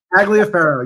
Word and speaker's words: Tagliaferro: guests today Dr Allison hefron and Dr taglia Pharaoh how do you say your name taglia faroh you got I love it I love it